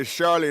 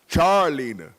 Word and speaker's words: Charleena: know what I mean everybody say Charlene her name is Char like charcoal Charles charlina and I and I